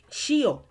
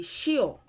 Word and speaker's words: ṣíọ̀: you're in that category so do shio for one dialect but in the more common one it would be shio shio shio but if you want